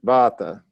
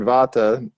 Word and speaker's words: Vata: space and air become Vata you can say it bata and when you hear that word Vata just remember it means